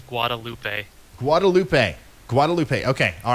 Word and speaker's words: Guadalupe: thank you Kenneth hey Ryan I believe it's Guadalupe Guadalupe Guadalupe okay all right I'm sorry guys